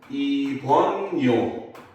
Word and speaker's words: 입원료: 병원에 입원해서 내는 돈을 입원료라고 하지만 얘도 발음을 하면 입원료 이렇게 돼요.